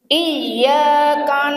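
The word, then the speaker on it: إياك: Terus iyaka iya iyaka na'budu wa iyaka nasta iya wa sama iyaka na'budu wa iya wa iya ditahan iyaka na'budu wa iyyaka nasta iya betul Ihdinathal mustaqim.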